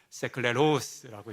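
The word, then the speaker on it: σκληρός: 본문에 어렵다라고 번역된 헬라어는 어 발음이 정확하지 않지만 이렇습니다. 세클레로스 예 히브리어는 높낮지가 있거든요. 그래서 많이 듣고 연습했는데 세클레로스라고 이제 올려서 발음을 해야 합니다.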